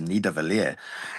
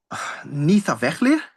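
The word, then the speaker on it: Niðavellir: can't even pronounce, where he says, "Oh, we have to beat Loki to Nidavellir." It's Nithavellir. Is that Nithavellir? Is that what you're trying to say? Not Nidavellir?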